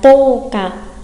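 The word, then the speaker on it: 十日: Chúng ta có toka ở đây thì trường âm của hàng to không phải là chữ ư mà lại là chữ ô, cái gốc nguyên thủy của cái trường âm đó, đúng không ạ? Nhắc lại nhớ, tô cả đây là tô ô cả, chứ không phải tô ư cả đâu nha.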